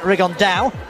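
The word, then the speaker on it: Rigondeaux: about fighting Rigond or as he's correctly pronounced with the Spanish accent Rigond and two absolute geniuses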